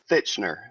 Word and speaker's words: Thitchener: was close close enough i' I've heard it butchered worse um it's fitchner fitchner it's good enough yeah okay and you